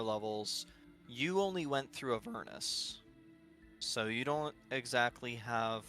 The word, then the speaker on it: Avernus: Isn't it pronounced Avernus? Yes, it's Avernus.